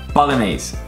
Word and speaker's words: Bolognese: Bolognese. So there are two things that are so wrong with this word is bologn. So gn is and the final e is pronounced e bolog which means from